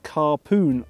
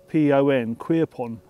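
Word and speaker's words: Quirpon: we are on an island called or it's pronounced carpoon Island it's spelled q-u-i-r-p-o-n queerpon but it's spelled carpoon it's an uninhabited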